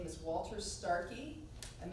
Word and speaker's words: Starcke: His name is Walter Starkey, and that's spelled Starcke. It's pronounced Starkey.